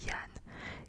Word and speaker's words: Jean: Cependant, Sylvestre s'ennuyait à cause d'un autre appelé Jean, un nom que les Bretons prononcent Yann, qui ne venait pas.